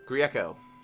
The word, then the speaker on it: Grieco: animation on that fishbowl how do you say your last name Grieco it's Italian S I believe him